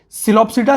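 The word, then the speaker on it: Psilopsida: Pteridophyta में ऐसे देखेंगे, सिलोप्सिडा, लिकोप्सिडा, स्फिनोप्सिडा, टेरोप्सिडा। इसका पी साइलेंट है तो इसको कोई भी पी सिलोप्सिडा नहीं बोलेगा, ठीक है, फिर उसके लिए मैं रिस्पॉन्सिबल नहीं होगा, बच्चे उसके मजे लेंगे।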